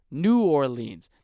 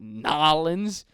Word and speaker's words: New Orleans: oh really cuz you're saying your own City name wrong it's New Orleans just like or liens from Europe New Orleans not nollans you say it like that could you say